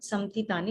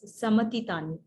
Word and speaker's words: samatitani: It is not samtitani, it is samatitani. Okay, ma is full.